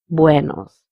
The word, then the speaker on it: buenos: The first word has to be pronounced very nicely and with a round mouth, buenos, instead of saying buenos.